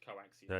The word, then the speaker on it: coaxium: thing yeah it's called coaxium yeah spelled cium pronounced coaxium an oldfashioned Western Train Robbery yep um and